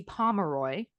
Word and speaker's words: Pomeroy: She was born Betty Pomeroy, like Pomeranian, but Pomemeroy, on January 9th, 1950 in Harper, Kansas to a normal, modest, like church-going family.